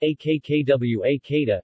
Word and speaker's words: acquacotta: the quick hada pronounced a k'kaw a kada italian for cook water